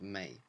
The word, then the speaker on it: me: me in English but it's pronounced more like the month of May May this beautiful and